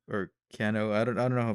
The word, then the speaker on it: Kanno: was composed by Yoko Kanno or ken-oh added on drama pronounce her it's like ka and n oh right so basically she